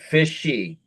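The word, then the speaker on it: Fishe: Fishy.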